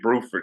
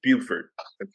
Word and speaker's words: Buford: And your girl with the big Bruford, she could not pronounce that word. I was like, it's Buford. You're putting the R in front of the U every single time, and I'm not quite sure why you're doing that.